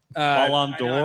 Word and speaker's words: Ballon d'Or: Who should win the Balloon d'Or? Say it again. Balloon. Ballon d'Or? I'm saying it wrong. Ballon d'Or.